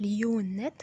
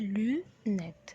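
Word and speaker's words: lunettes: لونات ما بنقولهاش ليونات، بنقولها لونات.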